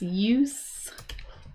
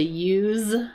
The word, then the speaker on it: use: Uh and notice too you know that the pronunciation is use right. Uh because when it is a verb, the pronunciation changes to use with a zed sound use.